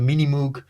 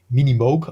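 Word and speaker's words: Minimoog: moo and also the mini moo um I have the original uh an original Mini moo uh say you still have it yeah wow yeah um minimog I should actually pronounce sorry for that and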